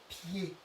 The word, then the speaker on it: pied: Et le mot le plus connu où on a le son et, c'est le mot pied.